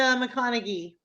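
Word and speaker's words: McConaghy: So the Skeleton Crew's 2016 investigation of McConaughey. Is that how you pronounce it? The McConaughey.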